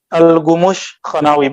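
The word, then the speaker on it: Gümüşhanevi: Al-Khumushkha tulisannya ke kaf, tapi bacanya Al-Gumush Khanawi, bahasa Turki, Persia Turki, campur Persia Turki.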